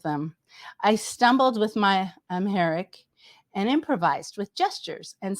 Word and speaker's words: Amharic: This is an experience where you were sitting with an African woman, and she spoke a language called Amharic. Amharic. Amharic. Okay, thank you. Amharic.